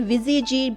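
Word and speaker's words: Ouija: बीजी board आते हैं इनके स्पेलिंग होते हैं ओ यू आई जे ए लेकिन इन्हें विजय जी प्रोनाउंसड किया जाता है इन्हें आपने बहुत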